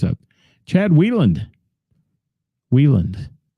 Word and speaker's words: Wieland: Wieland, not Weiland.